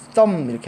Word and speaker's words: thumb: 신기한 거는 이 엄지손가락에서 이 B, thumb가 아니고 얘는 묵음이라고 합니다. 묵음을 영어로는 silence라고 하고요. silence는 고요함, 그쵸? 소리가 안 나는 이런 뜻입니다. 묵음. B가 발음이 안 나요. 그래서 thumb 이렇게 합니다.